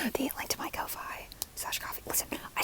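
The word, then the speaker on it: Ko-fi: I'll say it again I pronounce it Kofi because I I've always seen it as a play on Loi and I make Loi videos so I'm gonna say Kofi um if you don't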